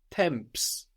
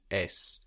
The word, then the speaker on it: temps: This is spelled as if, if you were to read it as if it were English, a temps. Temps.